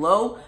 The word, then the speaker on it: Lowe: three candidates of Brandon Lowe, Michael Chavis, and Spencer Turnbull. Now, I don't know if I pronounced Brandon's last name right. It's either Lowe or Lau. It's spelled L-O-W-E, and he is the Tampa Bay Rays second baseman.